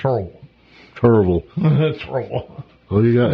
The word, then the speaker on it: Kerrville: It should have said, and this is how you say it, Kerrville.